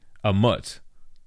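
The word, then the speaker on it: Ammit: Emmett, it's not Emmett, it's actually a mutt. Is that how you say it?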